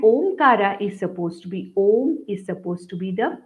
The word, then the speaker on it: Om: people pronounce it as ow no that is not correct om is the correct pronunciation though it has got three parts okay now our Vedas